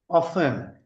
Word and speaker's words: often: Okay, so it is not often, often. T is silent.